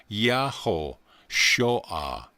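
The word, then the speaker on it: Yehoshua: I have given you the Hebrew form of the word Joshua is yadav correction Yad VAV Shin pronounced yaho Shah and means Jehovah saves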